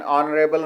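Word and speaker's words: honorable: For example an hour, an honest man, एन ऑनरेबल मैन. यहाँ पर H silent है, इसलिए वाउल की आवाज़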